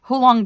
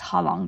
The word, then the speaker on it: Ha Long: was really limey Green hulong Bay which Ha Long Bay I keep saying it wrong it's Ha Long Bay it's a muddy